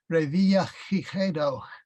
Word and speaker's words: Revillagigedo: The Spanish pronunciation is probably never used in Ketchikan, but it'd be Revillagigedo. Oh, yeah. And that's probably why it's never Yeah. used. It's the same sound like in Jose, but Right.